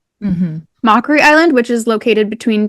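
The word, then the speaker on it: Macquarie: I'm going to guess it's called Mockery Island. M A C q U A R I E. Mhm. Mockery Island, which is located between Tasmania and the Ant and Antarctica.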